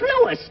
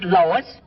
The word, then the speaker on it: Louis: Me name is Louis, not Lois. Gee whiz, everybody interpolates me name wrong. It's Louis. L-O-U-I-S.